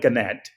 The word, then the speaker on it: Gannett: even correct me there is it ganette organic okay so which one we call it ganette there you go yes